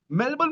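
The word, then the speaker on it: Melbourne: वो तो साले सीधा पहुंच गए, अब मेलबर्न भी पहुंच गए भाई। पहले तो लॉर्ड्स ऑफ मेलबर्न भी पहुंच गए। और उसको बोलना भी नहीं आता, वो मेलबर्न नहीं बोलता, मेलबॉर्न। मेलबॉर्न। मेलबॉर्न बोल रहा है भाई।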